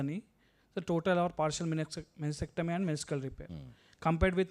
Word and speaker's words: meniscectomy: Meniscectomy, partial meniscectomy, subtotal and total. Meniscectomy only. C is silent. Meniscectomy.